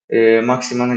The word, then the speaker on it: Saint-Maximin: Aydın'dan hızlıca bir de maximan geçeyim yani Maxi yazdırmış formasına Maxi diyen var Maxima doğru okunuşu Maxima da diyebilirsiniz Maxi diyelim ya da ben maximan demeyi seviyorum makim diyelim